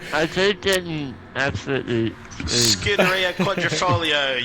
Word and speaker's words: Scuderia Quadrifoglio: Scuderia Quadrifoglio. You have to say it with the Italian accent.